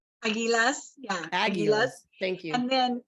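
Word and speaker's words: Águilas: of the desert called the I believe it's pronounced agies is that correct Aguilas yeah thank you and then and then you've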